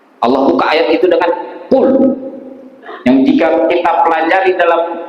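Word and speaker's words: قل: Ahad jauh berbeda artinya kalau Qul memakai huruf qf artinya Katakanlah ya Muhammad Allah itu tidak berbilang Tapi kalau kita lepas membacanya Pak Qul huallahu Ahad seperti memakai huruf Kaf terdengar artinya Makanlah coba Tuhan kita suruh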